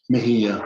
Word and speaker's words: Mejia: Mejia, Mejia. but it's a J, but it sounds like the G.